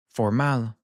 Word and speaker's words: formal: And for these words, you'll hear the stress come more on the end. Let's take the word formal as our example. In Spanish, it would be formal.